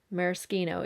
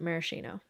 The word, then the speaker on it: maraschino: no before anyone comments i don't pronounce it maraschino because it's an italian word so merskino even though i know americans pronounce it maraschino yeah i think this